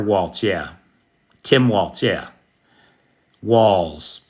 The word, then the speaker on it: Walz: Walls. Is it pronounced like Walls? Correct.